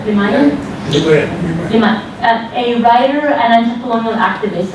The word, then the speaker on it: Limaye: So Madhu Limaye, am I pronouncing correct? Limaye? Limaye.